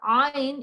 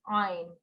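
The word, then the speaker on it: ع: how do you pronounce Ein okay this is softly pronounced from the middle of the throat and is one of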